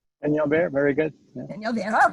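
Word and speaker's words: Peñalver: roll the N's, but forgive me if I mispronounce it. Eduardo M. Benyalver? Benyalver, very good.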